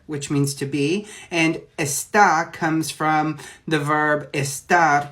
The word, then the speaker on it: está: feminine in Spanish now what I think you're referring to is esta which would have an accent on the a that is going to be a star and it's going to be conjugated for he or she and that is going to mean is okay so let's talk